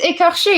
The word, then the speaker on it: écorché: Yeah, it's écorché. It's actually a French word.